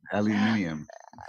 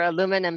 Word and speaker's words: aluminium: better i like that aluminium i love that we're aluminum here in america but aluminium um across the pond and i definitely prefer